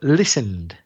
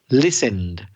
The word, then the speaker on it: listened: twice with the word listened. That's Listened, the past simple or past participle form. Listened. Don't be tempted to pronounce ED, that E. The E is silent, so listened. Don't add an extra syllable.